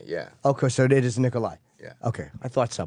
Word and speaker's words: Nikolaj: No, it's kind of a It's kind of an hy sound. Nikolai.